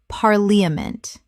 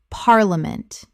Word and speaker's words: parliament: Parliament. Correct pronunciation. Parliament. 3 syllables in natural speech. The middle syllable collapses dramatically.